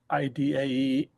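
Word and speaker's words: -idae: All families end in id pronounced various ways by different people but I go with the classical pronunciation of ID.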